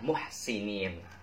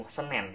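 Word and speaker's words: محسنين: Jadi Senin, nama hari saja, muhsinin. Tapi di situ bukan muhsenen, tapi muhsinin. E-nya diganti I, jadi muhsin.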